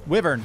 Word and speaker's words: wyvern: So Thick, did you say you saw a dragon or they're actually called wyverns. Wyvern. Wyvern. Wyvern. Wyvern. Yes, pronounced wyvern.